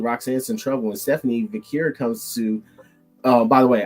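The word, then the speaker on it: Vaquer: And Stephanie Vacura comes to. By the way, I said Stephanie Vacura because on Monday night, Michael Cole wanted to smack the shit out of you because your ass said Stephanie Vaca.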